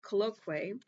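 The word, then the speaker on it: colloquy: I like to pronounce words correctly. C O L L O Q U Y. Colloqu colloquay.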